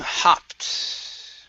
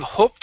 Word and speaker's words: hopped: very nice next up is um hopped right here so instead of hoped in uh and hopped back